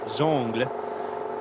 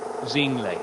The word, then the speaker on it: Zingle: race he was introduced is zong uh there's no nasal tone to it it is zingle I'm standing by that